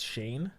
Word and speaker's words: Shane: I do just have to point out, because it was bothering me because he mispronounced his name about 6 times. It's Shane.